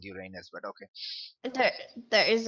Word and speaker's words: Uranus: over honor that's the pouring it's it's actually pronounced Uranus but sure whichever it is still look yes so let's go with your anus yes just go with what sounds does the